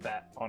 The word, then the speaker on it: Beto: If you say like bet, like I'm gonna go to the racetrack and bet on a horse, and then like Beto, like you're fine. Like, right.